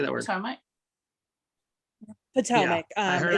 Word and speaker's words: Potomac: Potomac.